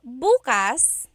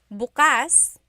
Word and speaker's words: bukas: If you say bas the emphasis is on the second syllable that means open. If you say buas emphasis is on the first syllable that means tomorrow. Very interesting like oh my work I have work tomorrow.